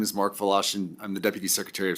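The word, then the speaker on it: Wlaschin: members of the committee my name is Mark fashin I'm the deputy secretary of state for elections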